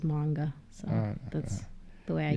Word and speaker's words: manga: When I was growing up, the accurate way, so they say, is manga.